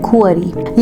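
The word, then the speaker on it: खुहड़ी: के सम बोलते हैं, और जो खुरी विलेज है वो एक्चुअल प्रोनाउंसिएशन उसका है खुअरी।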